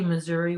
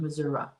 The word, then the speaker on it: Missouri: I say Missouri with E sound and but some do say Missouri with a sound, Missouri.